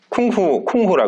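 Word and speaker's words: 功夫: 여러분 쿵푸 아시죠? 쿵푸? 쿵후라 그러죠. 쿵후.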